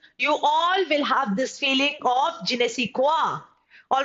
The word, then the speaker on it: je ne sais quoi: All right, its pronunciation is je ne sais quoi.